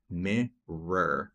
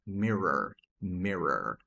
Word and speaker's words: mirror: E aqui temos palavras que são mais difíceis mesmo de pronunciar para quem é brasileiro. Começando com a palavra para espelho, que é meor mirror, mirror, mirror, mirror.